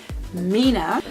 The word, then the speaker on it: Mina: some gorgeous lip colors by Mina Mina which is spelt with an M you guys see that so it's spelled like that but they're called meaner I've not had a